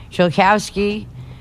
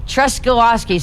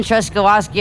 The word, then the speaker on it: Truskowski: But we are gonna close out with some music by Chilkowski, who I actually know. How do you say it again? Truskowski, Truskowski. I've asked him 3 times. I keep mispronouncing it.